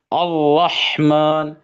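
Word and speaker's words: الرحمن: ஹெவியா எப்படி சொல்லணும்? அர்-ரஹ்மான், அர் அர் அப்படின்னு சொல்லாம அர்-ரஹ்மான் அப்படின்னு அதை ஹெவியா நம்ம என்ன செய்யணும், அதை வந்து ப்ரொனவுன்ஸ் பண்ணணும்.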